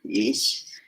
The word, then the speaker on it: Ix: Se escribe IX, ISH. Ish como un acento.